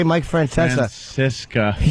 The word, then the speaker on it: Francesa: And he said, "Oh, I thought it was Francisca who left." What? He meant to say Mike Francesa.